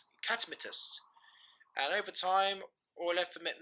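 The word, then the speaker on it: Catamitus: In Latin, the Romans pronounced his name Catmetus, and over time, all effeminate men who engaged in the relationship of role of gay sex were called catamites.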